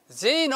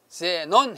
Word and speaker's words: 제논: 제노 하는데 우리는 제논 해야 맞습니다.